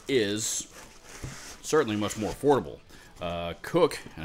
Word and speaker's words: Koch: more affordable cook and I think it's pronounced cook Kate och and I believe the guitar player Greg Koch II spells his last name the same way pronounces it as I just mentioned Koch I have I'm